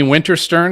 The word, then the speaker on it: Winterstern: is episode 150 um we've got uh jamie winterstern is that it is that how you pronounce the last name yes winter cern okay